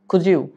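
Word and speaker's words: could you: আপনি বলবেন জুজি সেম একইভাবে কুড ইউ না বলে খুজি খুজি প্লিজ সাবমিট অসাইনমেন্ট প্লিজ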